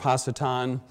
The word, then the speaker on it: Hasatan: it here, mostly because that's the best way to pronounce it in Hebrew as well.